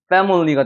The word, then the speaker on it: family: 여기 같은 경우 여러분 패밀리가 아닙니다. family가 되는 거예요. 물처럼 사운드가 나는 거. family. 왜? 여기에 에 발음이 나고 강세가 적용이 되니까.